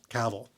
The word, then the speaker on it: Cavill: with my personal favorite Henry Cavill like travel pronounced Cavill according to him so Henry Cavill I